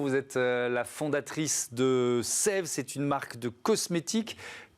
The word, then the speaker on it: Saeve: Donc effectivement, ça se prononce bien Sève. C'est un diphtongue, le E dans le A, et c'est parce que c'est un petit jeu de mots entre la sève qui va saver votre peau.